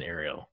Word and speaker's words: Ariel: people ask me if Ariel is the right pronunciation the Spanish for this age pronunciation is idea of course you have to roll your R's but the end but